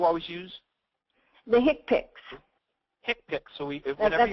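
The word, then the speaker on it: HCPCS: for that you always use the hick pics hipic so we that's how it's pronounced hipic yeah and that's not a rosis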